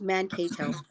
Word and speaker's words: Mankato: I've been saying it wrong. It's Mankato. Okay.